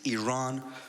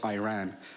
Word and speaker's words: Iran: the Iranian people but you're pronouncing our country's name wrong our country is named Iran not Iran you know there's discrimination everywhere you go like